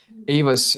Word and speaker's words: AEVOS: uh in simplest terms you know AOS and that's correct pronunciation brother but you're right uh it's a